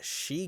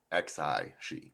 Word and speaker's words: Xi: So, now we are here with the RX 105 She Gundam. Uh, well, it's dash under dash and underdash again. It's the She Gundam as it's just a weird Xi, by the way.